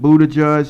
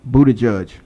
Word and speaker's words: Buttigieg: Pete Buttigieg has dropped out, and now Amy Klobuchar has dropped out.